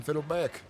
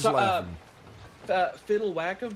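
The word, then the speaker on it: Fiddlewhackom: Fiddle whackom. Fiddle like the instrument whack like you're hitting someone and then DM at the end.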